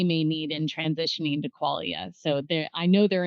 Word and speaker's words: Qualia: came out and no one knew how to pronounce the word Qualia. What is that? Quailia. Qualia.